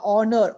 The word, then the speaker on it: honor: n i an r honor honor h is silent an r h is